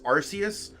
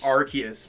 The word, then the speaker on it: Arceus: it's arceus right um i used to always pronounce it as arceus but i think it's arceus from what i've seen